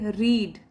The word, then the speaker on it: read: अगर उसकी past tense बनाए तो उसको बोलते टाइम हम बोलेंगे रेड, आई रेड a book, तो वो RED नहीं बोलेंगे, स्पेलिंग यही रहेगी। और इसके थर्ड फॉर्म में भी स्पेलिंग यही रहती है, रीड, बस पढ़ेंगे अलग तरीके से, रीड, रेड, रेड, और